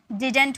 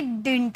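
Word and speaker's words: didn't: Pronunciation होती है ना, वो या तो आप इसे डिंट में प्रोनाउंस करो या तो आप इसे डिडंट में प्रोनाउंस करो। ठीक है, डिंट या डिडंट दोनों में आप प्रोनाउंस कर सकते हैं, डिडंट या डिंट।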